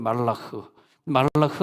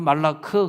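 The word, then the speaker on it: מלאך: 말라흐 할 때 흐 하면서 그 뇌가 진동해야 돼요. 뇌가 진동하는 단어들 보면요, 진짜 영적인 단어들은 뇌가 진동해. 근데 우리나라 말로 말라크 그러면 뇌가 진동하는 것이 아니라 이부하고 혀만 진동하거든.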